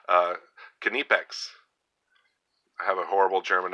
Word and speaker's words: Knipex: made in Germany um I thought the K was silent but I think it's not and I think the I is pronounced e so it's uh canipex I have a horrible